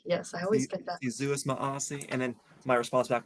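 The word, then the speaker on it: Si Yu'os Ma'åse: Suis Maasi. Yes, I always get that. Zeus Maasi.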